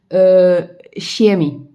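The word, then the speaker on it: Shaymin: So this one is actually pronounced quite similar like the English version. So this is called Shemi View. So it's actually quite similar to the English pronunciation.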